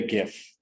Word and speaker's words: GIF: ahead and made a gif i know it's jif with a soft g i can't get over